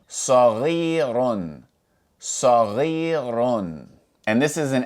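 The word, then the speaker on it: صغيرٌ: So, the raw with tanween dhamma would be pronounced run. Run. So, if we pronounce all of these letters together, we would say saghirun.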